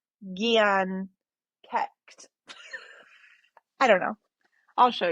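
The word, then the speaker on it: Dian Cécht: Okay, so this one, well, how I would pronounce it is Dion Chet. It's actually Gian Kecht.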